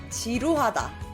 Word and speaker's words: 지루하다: 지루하다. 지루하다.